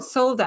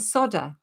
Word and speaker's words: solder: was watching the YouTube videos solda and you they were calling it solder solder we solder we solder